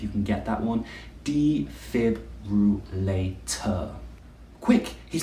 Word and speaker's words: defibrillator: Now, this one is a bit of a tongue twister. We can break it into 5 sounds.